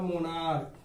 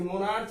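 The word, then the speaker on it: monarch: इसी प्रकार का एक वर्ड है आपका मोनार्क। ठीक है, इसे मोनार्च नहीं पढ़ना है, ये च उच्चारण नहीं करना है, इसमें भी ये क वाली बात है।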